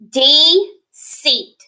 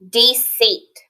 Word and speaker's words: deceit: The I is silent and the E is long, and it makes that rainbow S sound with that C. Deceit. Deceit.